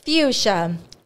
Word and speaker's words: fuchsia: give up I'm sweating fuchsia f u c h s i a be all the syllables in there it's all hard fuchsia I would have never imagined there being a CH in there dude okay